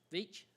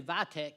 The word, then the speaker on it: Veach: I was gonna say Vitek, but I guess that would've been wrong. Boy, I tell you, it's a hard name to pronounce when you see it written, but it's Veach.